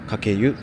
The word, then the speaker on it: 鹿教湯: Tên của nó có nghĩa là "suối nước nóng do một con hươu dạy dỗ", và được phát âm là "kakeyu". Đây là một khu nghỉ